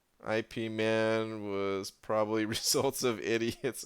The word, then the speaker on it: Ip Man: you say that again is it Yip Man or it Minh hold on I haven't seen those movies Cantonese it is Yip Man Ip Man was probably results of